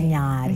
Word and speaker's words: Ntinyari: Because that's how you pronounce Ntinyari. Ntinyari.